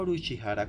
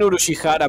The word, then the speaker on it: Urushihara: Tengo a Uruchihara como mi compañero de práctica. Puedo confirmarlo al 100%. Oye, que estaba fuera de lugar. Puedes pronunciar bien Urushihara, pero no puedes pronunciar Shiroyama.